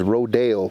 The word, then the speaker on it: rodeo: He said they say it wrong. He said the proper term for rodeo is rodeo.